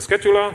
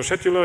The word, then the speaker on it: Scheduler: Gleichzeitig wird die Transaktionsverwaltung mit dem Scheduler oder Scheduler, je nachdem, welchen Aussprachestil, amerikanisch, britisch oder sonst was Sie bevorzugen, mit dem sozusagen sprechen, der so einen Plan hat und sagt, wer darf wann was.